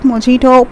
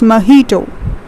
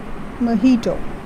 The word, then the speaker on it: mojito: cuba once now it's very common so it's pronounced as bajito it's not mojito please please please it's mojito mojito a three stable bird as pronounced as mojito